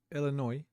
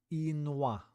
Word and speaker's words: Illinois: Camp Dubois, Illinois. I really want to pronounce it like it should be pronounced. Illinois. Illinois. It's clearly French. Double L in French is I.